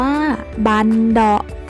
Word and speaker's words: บัณเฑาะก์: วัด นั้น เอง นะ คะ บัณเฑาะก์ อ่าน ว่า บัณเฑาะก์ หมาย ถึง กลอง สอง หน้า ชนิด หนึ่ง ขนาด